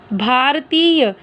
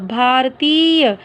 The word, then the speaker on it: भारतीय: भारतीय, भा र त को बड़ी ई य, भारतीय। देखो मात्राओं की जब आप प्रोनाउंसिएशन करते हो ना तो ठीक किया करो, जैसे त को अगर बड़ी ई की मात्रा लगी है तो हम इसको बड़ी ई की तरह ही उच्चारण करेंगे, भारतीय।